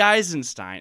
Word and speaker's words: Eisenstein: Eisenstein. Yeah, it can't be right. You can't say E. Uh, you can't say Einstein. So, you got to throw an extra syllable in there somewhere.